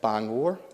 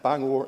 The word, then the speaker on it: Bangor: still get her on as their Bangor not bang bang over and Bangor and Maine is home